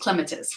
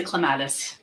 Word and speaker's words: clematis: Actually, it's pronounced clematis. We all say clematis.